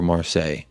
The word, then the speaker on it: Marseille: sonny boost confidence before marseille is that how you say it marseille or do you mar say it differently we're saying you said it right okay i'm glad that